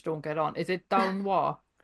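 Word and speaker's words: d'Aulnoy: most was the I'm going to mangle our pronunciation because me and French don't get on. Is it Dalnois? Dolnois, yeah.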